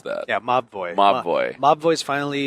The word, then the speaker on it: Mobvoi: Mobvoi was out in the sands, but they finally I understand how you pronounce that. Yeah, Mobvoi.